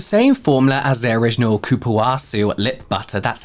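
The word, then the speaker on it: cupuaçu: which was the same formula as their original Kuwasu lip butter.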